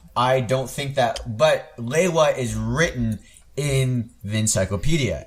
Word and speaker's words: Lewa: not the immediate default. It's Sure, Lewa. sure. And it certainly is not Leiwa. There is no A there. Yeah, no, I'm with you. So- I don't think that, but Lewa is written in the